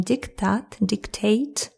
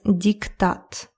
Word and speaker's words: диктат: Again, my pronunciation dictate. In Russian, it's diktat.